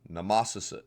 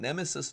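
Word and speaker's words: Nemausus: is oops sorry uh NE Nemesis excuse me nasus nasus nasus not Nemesis nasus excuse me uh nasis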